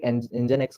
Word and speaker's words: NGINX: So basically इंजन एक्स के अभी currently हमें ज़्यादा बेनिफिट्स हैं, इसलिए हम वेब सर्वर को एज इंजन एक्स यूज़ करेंगे। इंजन एक्स की स्पेलिंग कुछ ऐसी होती है, NGINX।